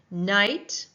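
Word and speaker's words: knight: Night as in the night sat before the queen. We do not hear the C- sound in night, though there's a K in the beginning.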